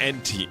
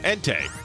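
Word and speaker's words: Entei: I like anti anti anti. Yeah, anti ent. Ente. That's the name. That's the proper pronunciation though.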